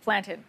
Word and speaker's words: plantain: title frying plantain and the correct way to say it especially if you are West Indian background is planted yes not plantain plantain tell us about this